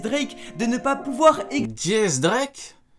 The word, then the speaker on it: X Drake: Jace Drake? Ah, il le prononce Jace Drake? Vous le prononcez comment vous? Moi j'ai toujours dit X Drake. Attends. Donc le X, on le prononce dièse.